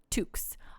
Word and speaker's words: toque: might call them beanies we call them tooks i'll put okay i'll don the pika hat just for you uh we'll call it a pika took it's spelt t-o-q-u-e yes like like peregrine